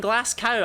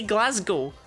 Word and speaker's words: Glasgow: why are you eating glass cow I say Glasgow if it was an American talking I'd get it but it's not even remotely pronounced like glass cow there's a Glasgow not